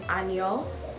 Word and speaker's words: Anya: So, obviously, my full name is, and my middle name is Anyo. So, it's spelled Anya, but you pronounce it Anyo, so it's Anyo